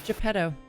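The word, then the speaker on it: Geppetto: your name mister oh my name my name's gepetto you don't know how to spell that but okay g-e-p-p-e-t-t-o there we go i'm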